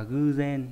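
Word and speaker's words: 偶然: Nhiên thì đọc là gen, rồi ngẫu đọc là gư gen. Đáp án đúng là hai, có trường âm nhá.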